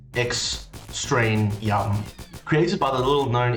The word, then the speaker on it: Extraneum: extremium and it's a lot like that extraneous pronounced x strain young created by the little known indie developer david